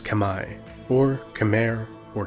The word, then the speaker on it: Khmer: which is now modern-day Cambodia the Kemmer correctly pronounced Khmer or Khmer or Kemmer in English are in ancient people whose culture